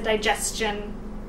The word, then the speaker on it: digestion: a tension and then how you pronounce a digestion I will say it's more like a chin sound Shen or shun 20 on how you